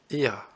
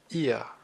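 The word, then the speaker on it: ihr: écoutez bien je vais le répéter trois fois IR IR et enfin nous allons voir la troisème personne du pluriel alors ça se prononce Z comme la trème personne du singulier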